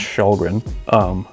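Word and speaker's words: Källgren: The goalie's last name starts with a K. It's pronounced Shalgren. That's not how it's spelled.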